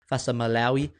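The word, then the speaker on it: Fa'asuamaleaui: and Tino Fasa Maloi as prop for all those listeners that have corrected me and complained about me mispronouncing Tino's last name Fasa Maloi.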